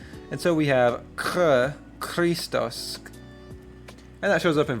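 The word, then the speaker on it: Χριστός: So, you might think it's Christos, uh but it's pronounced like the Hebrew chet or kaf, and so we have ch- Christos.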